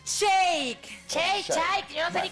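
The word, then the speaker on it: Shayk: terminó con la modelo rusina sy así se pronuncia Shake ch yo no sé ni cómo se dice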